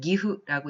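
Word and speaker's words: 義父: 한자로는 실부라고 쓰여져 있고 일본어로 읽었을 때는 집부라고 읽습니다만 이거는 실부, 다시 말해서 친아버지를 읽었습니다. 그에 반해서 의부라고 한자를 쓰고 읽었을 때는 기후라고 읽습니다만 이거는 의붓아버지를 읽었습니다.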